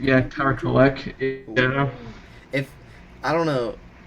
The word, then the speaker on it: Kolek: See, but it's Kolek? Yeah, Tyler Kolek.